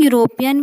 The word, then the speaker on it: European: But when we are pronouncing European, we are getting the starting sound U.